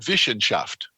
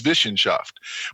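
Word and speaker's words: Wissenschaft: of the modern university to what they called vishen shaft and i was surprised i taught in germany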